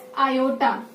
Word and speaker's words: iota: I is generally pronounced as iota.